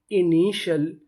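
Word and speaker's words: initial: TIAL को हम लोग पढ़ते हैं शल, इसे हम लोग TL नहीं पढ़ते, इसे क्या पढ़ते हैं? शल। जैसे INI इनी, TIAL शल, इनिशियल, इनिशियल, इनिशियल का मतलब होता है शुरुआती, तो मीनिंग क्या बनी?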